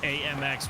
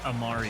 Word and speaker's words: Amari: And I'm also getting corrected by our management because uh AMX we're actually mispronouncing. It's Amari is his name.